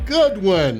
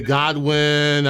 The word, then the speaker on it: Goodwin: these interviews landon goodwin how you doing my friend i'm good how are you i'm doing very well at least i didn't say god win i didn't call your name wrong sir that's good i